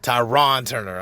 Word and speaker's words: Tyron Turner: I'm pronouncing that right. Tyron Turner. Yes.